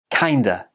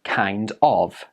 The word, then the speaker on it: kinda: You've probably noticed that of, like in kind of, quite often just becomes a and joins with the previous words. This happens in many examples. In this one, it is kinda.